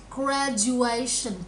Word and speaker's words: graduation: Okay, this one, cái âm này đọc là zhu.